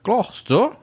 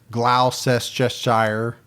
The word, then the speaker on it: Gloucester: Well, there was about whether or not we would pronounce Gloucester right. Glouester. Most people thought I would say Glauses Cheshshire. Glass, which is the way it looks.